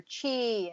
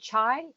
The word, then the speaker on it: qi: bit more about acupuncture acupressure and finding your chi and and how to control that can you can you explain about finding your chi or is it chai you know these are all good questions and